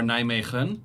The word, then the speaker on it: Nijmegen: or Nijmegen, which is like also strong G, and foreigners can't pronounce that shit.